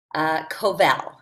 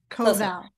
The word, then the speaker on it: Koval: Koval, as in value. Koval.